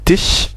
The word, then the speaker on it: Tisch: Kind, voilà, der Tisch, donc ici c'est Tisch, S-C-H se prononce ch, normal, Mann, Wagen, bien sûr on a vu que W se prononçait V, Wagen, etc.